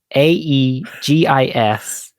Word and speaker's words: Aegis: got my hopes High my word today is egis a e g i s egis can also be pronounced Aegis I prefer Aegis I prefer AIS interesting but I run